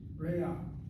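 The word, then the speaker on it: רֵעַ: You see the word, you pronounce it as rea, like this, but the word is actually pronounced with a patak before the ayin, rea. That patak is not a real vowel.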